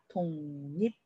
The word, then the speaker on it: 독립: 자, 그리고 기역과 리을이 만나 있는 상태예요. 그럼 뒤에만 바뀌느냐? 아니요. 둘 다 바뀌어야 됩니다. 독립. 둘 다 바뀌는 상호동화 기억하시죠?